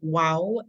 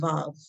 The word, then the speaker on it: ו: Next up, we have wow and vav. Vav is the modern Hebrew pronunciation.